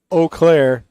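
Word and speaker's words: Eau Claire: can say it but whenever it comes to O Clair forget about it I think oakair is probably it's got to be in the top five mispronounced places in Wisconsin what's up wmps yeah o Clair I will what you know they should just spell it with an O just make it easy I read it phonetically I say it phonetically got to spell it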